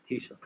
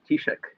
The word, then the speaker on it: Taoiseach: I can spell the title, I can't pronounce it, so I'll let Martin pronounce it. Taoiseach. Taoiseach, yes.